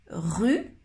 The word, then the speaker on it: rue: Ok, maintenant la différence entre ces deux mots, rue, rue, rue et roue, roue. C'est un peu difficile à écouter.